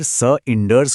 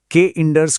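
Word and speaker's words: cinders: कविता में आए शब्द सिंडर्स को आखिर स इंडर्स क्यों बोला जाता है? के इंडर्स क्यों नहीं?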